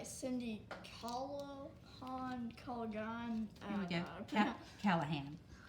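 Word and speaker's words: Callaghan: Callahan. Callahan is how you would pronounce that.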